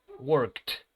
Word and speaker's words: worked: Sin sonido, que no es sonoro, la terminación ed se va a pronunciar con el sonido de una letra T, ¿ok? Como en el caso de work, worked, right?